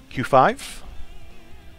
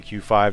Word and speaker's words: QV: Next up, I'm going to go up to Q5. It is spelled QV, but the V is supposed to be a 5. Don't ask me why, that's just how it is. You'll see people say QV or Q5.